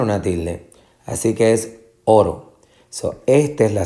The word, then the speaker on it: oro: Así que es oro. Esta es la sílaba tónica.